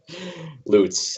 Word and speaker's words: Lutz: Lutz, as his name is, but I pronounced that correct. So, for the record, I practiced that.